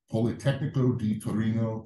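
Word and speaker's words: Politecnico di Torino: of motor control markco received in MSE from poly technico D Torino and NBA from bonei Milano I probably pronounce it wrong so I apologize did you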